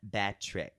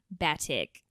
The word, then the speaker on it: Batik: Batrick. Batik. I don't see an R there, Khloe.